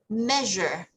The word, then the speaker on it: measure: do your research right so remember measure measure yes that the s is this sound so you see is measure measure yeah good and last